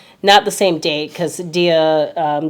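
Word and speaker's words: Samhain: is also called um it's spelled Sam Hayne but it's sa so that is also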